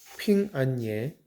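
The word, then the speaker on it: 平安夜: 합니다 크리스마스 이브를 뜻하는 핑 안예 한자로 그대로 읽으면 평안할 평자의 편안할 안 자 그리고 밤야자 써서 평안야 중국어 발음으로는 핑안예가 되는데이 핑안예의 첫소리 핀과 그리고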